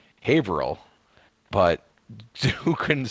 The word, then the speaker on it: Haverhill: are from the same town in Massachusetts called Haverhill, but who couldn't say it one night in our party? Could have been you, Crazy. You kept calling it Haverville.